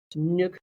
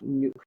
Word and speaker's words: Nuuk: By the way, that's pronounced Nuuk, not Nuuk. Nuuk. Double O.